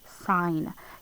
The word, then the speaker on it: sign: This is tricky because this combination is actually a G and an N. Sign. You would never think that there's a G in there, would you? Not very easily unless you know it's supposed to be spelled like that.